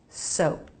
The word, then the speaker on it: soap: Soap. A light release of the P.